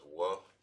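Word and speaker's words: ו: This is pronounced as wa.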